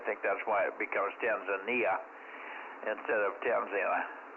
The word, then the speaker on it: Tanzania: Yeah, he was the one that told us that we were pronouncing Tanzania wrong. Well, it's just that's the way they pronounce it in Tanzania. We were there like 20 years ago, and they call it Tanzania. But I think in the U.S. the proper pronunciation is Tanzania.